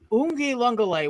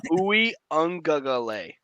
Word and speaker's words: Uiagalelei: Like DJ, I cannot pronounce his last name, so I won't even DJ try. Uiagalelei. Ungale. What? No, Uiagalelei.